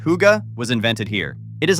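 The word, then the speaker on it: hygge: The concept of higa, pronounced huga, was invented here.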